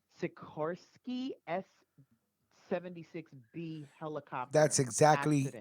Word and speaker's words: Sikorsky: affected by today's I'm gonna say it wrong Sikorsky s-76 be that's exactly correct Sakura okay you